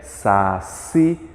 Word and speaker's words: saci: Cipó, café, saci. Note que essas palavras possuem a sílaba mais forte na última. Quando eu digo, por exemplo, saci, embora não tenha acento, o si é a mais forte.